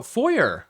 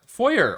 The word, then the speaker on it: foyer: Oh, foyer. Foyer or foyer, depending on how you want to pronounce it.